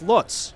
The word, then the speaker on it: Lutz: pronounces his last name everyone says Lots but he says in Germany it's Lutz so that's what I've